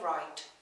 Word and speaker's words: write: write write znamená psát nečte se jako WR ale jako WR Čte se tedy v podstatě úplně stejně jako WR které se píše takto ale znamená jezdit třeba na koni nebo na kole takže pozor ale je to